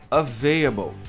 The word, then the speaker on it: available: A maioria das pessoas pronuncia available. Available. E o que é curioso aqui, e até hoje eu não entendi por quê, é que as pessoas não pronunciam esse L.